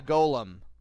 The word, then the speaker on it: Golem: fight so we Face the Golem or Gollum however you want to pronounce it iron or will reduce